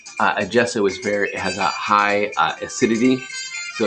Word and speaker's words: gesso: It's not pronounced gesso, it's gesso. So I'm told.